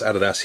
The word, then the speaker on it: adidas: don't know i s this is how we pronounce adidas here in australia but i know it's actually adidas so i will do